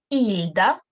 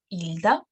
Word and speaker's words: Hilda: Hilda. But don't pronounce the first letter. Hilda.